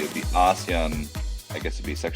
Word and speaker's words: ASEAN: and organizations and they the way they pronounce it is ASEAN ASAN.